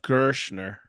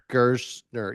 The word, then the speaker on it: Gerstner: yeah but it's pronounced gersner gersner yes it sounds like sh but it's s yes gers and once